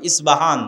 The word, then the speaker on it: ইস্পাহান: আমরা প উচ্চারণ করি ইস্পাহান, আরবিতে এটা উচ্চারণ হয় না, আরবিতে হয় আল আসবাহানি, বা উচ্চারণ হয় ইসবাহান বা আসবাহানি।